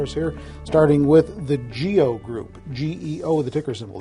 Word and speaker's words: GEO: not anything weird even though it looks like geo to me but sometimes you never know it is it is geo and uh they've actually been another company that